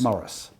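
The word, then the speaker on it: Morice: i c e and whichever way you pronounce it it's Morris it's moris Street no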